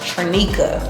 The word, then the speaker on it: Trinica: So my name is pronounced Trinica. Trinica.